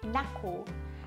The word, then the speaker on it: knuckle: K から始まるけど発音しません。Knuckle、 Knuckle っていうのはこ